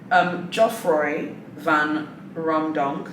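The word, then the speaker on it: Geoffroy Van Raemdonck: Jeffrey Van Romdonk. Yeah, I think that's his name. No, I think I've said his name wrong. Geoffroy Van Romdonk, the CEO of Neiman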